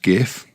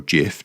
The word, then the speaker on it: gif: bit like probably the world's first gif or Jif depending on how you pronounce it yeah using every